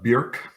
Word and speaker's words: Bjork: was your character's name uh bjerk like singer i was gonna ask